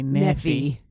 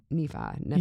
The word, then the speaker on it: Nephi: I mean, the southern pronunciation will say Nephi. We both said that at the same time. We didn't even rehearse that. That's our southern pronunciation, but we know that's not right.